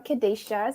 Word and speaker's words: Kadasha: have my special co-host kadasha from GitHub you want to say hi to everyone Hi everyone I am kadashas it's a long a um and I work